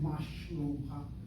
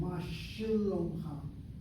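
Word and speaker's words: מה שלומך: I'm not saying mashlomcha, I'm saying mashalomcha.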